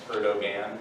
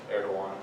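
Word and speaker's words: Erdoğan: It's spelled like Erdogan, but it's Erdogan.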